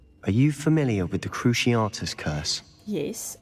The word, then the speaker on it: Cruciatus: Are you familiar with the Cruciatus curse? Yes. Oh, that's how you pronounce Cruciatus. You'd think I'd know with watching the films, but yeah. I always say Cruciatus.